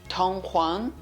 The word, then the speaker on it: Dunhuang: of the thousand buddhas tonghuang donghuang by irene vincent tong huang was an old pronunciation lastly be aware you